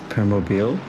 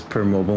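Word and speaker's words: Permobil: you know what it's we do have an official pronouncing of it I think it's permo uh I always pronounced as per mobile myself and then during the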